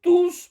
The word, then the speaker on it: tous: Attention à la prononciation de tous pronoms au pluriel masculin. Il faut prononcer le S.